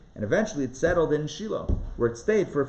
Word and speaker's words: Shiloh: um oh where is shiloh good yes shiloh or shiloh shiloh that's the way it's pronounced in hebrew mark is asking about